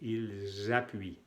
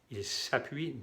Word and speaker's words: ils appuient: Con el vínculo de la S, ils appuient. Ils s'appuient, no. Pas, es z. Cuando se hace el vínculo, la S se pronuncia como la abeja.